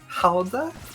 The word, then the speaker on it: Gouda: know, fun fact, that the cheese that we like to put in puns, Gouda, is actually just pronounced Hauda?